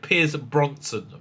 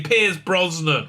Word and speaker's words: Pierce Brosnan: time i mention him he would direct a pronunciation much worse than that is pr piers bronson brosnan look it up pierce bro uh brosnan brosnan okay pierce brosnan right i think the reason he was so